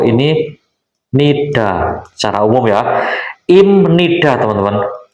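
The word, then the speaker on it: 임니다: Nida secara umum ya Im Nida teman-teman ini bacanya Im Nida bukan IB Nida karena B ini ketemu n b dibaca m imnida akhiran konsonan maupun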